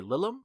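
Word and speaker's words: Lilim: and then there's the are they Lilum? Is that how you pronounce that? Yep.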